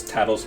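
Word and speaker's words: Tatl: pronounce Tattle's name because it's spelled T-A-T-L, just kind of weird. And then, just like this playthrough, I was like, oh, the naming scheme is literally just Tattletale. That's what they're doing.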